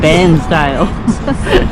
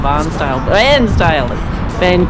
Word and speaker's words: Bairnsdale: Did you say Barnsdale? No, I said Bairnsdale. I've been saying it wrong, Barnsdale. Greg grew up at Bairnsdale, so I get in trouble if I say Barnsdale.